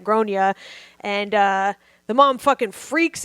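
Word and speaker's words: Gráinne: And so she's like, I try to be tactful, and said Irish is kind of like a tricky alphabet. Around here, we pronounce that Gronya.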